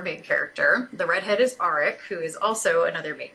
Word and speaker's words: Aric: her the guy's name aric like Eric but with an R and now they start